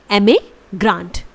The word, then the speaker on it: emigrant: आपको इसे प्रोनाउंस करना है एमिग्रांट, एमिग्रांट। इसके बाद IMMIGRANT, इट इज़ इमिग्रांट।